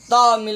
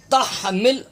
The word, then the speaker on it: تحمل: ربنا ولا تحمل، ہا تا ہا زبر تح، تامل نہیں، یہاں بھی لوگ غلط تلفظ پڑھتے ہیں، یہ دائرہ دیکھ رہے ہیں